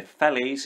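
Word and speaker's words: felloes: being made these are what they call the fellas it's spelt fellows but this is the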